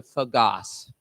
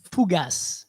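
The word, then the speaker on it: fougasse: number one what type of food is a fagass let me let me pronounce it correctly fugas okay thank you terry it's got to be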